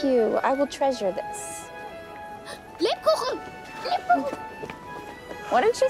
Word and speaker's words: Lebkuchen: Lebkuchen!